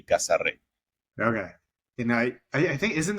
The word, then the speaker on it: Casarré: So we kind of wanted to write it the way you would pronounce it as a Dominican person. Okay. That would be Casarre.